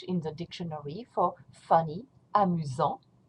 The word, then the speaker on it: amusant: the dictionary for funny, amusant. Don't pronounce the T, amusant. And here, when you pronounce it in the feminine form, you're going to pronounce the T because of the E.